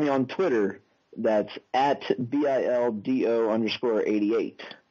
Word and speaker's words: Bildo: That's at BILDO_88, which pronounced is Bildo_88. You said Bildo, not Dildo, right?